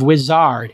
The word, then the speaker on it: Uizard: today we have the co-founder and CEO of wizard it's spelled u-i-z-a-r-d it's basically Jitter of AI you